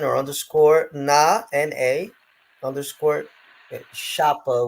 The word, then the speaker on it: Chapa: Gringo underline or underscore na NA underscore Shapa, which is spelled with a CH. So it'd be like Chapa.